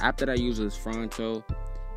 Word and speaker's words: Phonto: So the app that I use is Phronto. It's spelled Phonto.